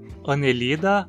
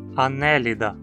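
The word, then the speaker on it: Annelida: Anelida ou anélida? Esse é um nome que muita gente erra. O radical ida sempre tem i curto. Então a penúltima sílaba não tem requisitos para ser longa e precisamos falar anélida.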